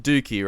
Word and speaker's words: Dookie: It's pronounced Dookie, right? Yeah. Yes. Dookie, Yes. classic. What else would you? What's the alternative? Dookie. Dookie. Docky.